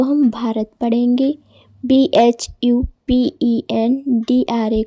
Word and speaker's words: भारत: तो दोस्तों, जब बी के बाद H आए तो हम उसका उच्चारण भा करते हैं। जैसे कहीं भी आपको BH दिखे तो उसको हम भा पढ़ेंगे। जैसे कि BHUSHAN, इसको हम भूषण पढ़ेंगे।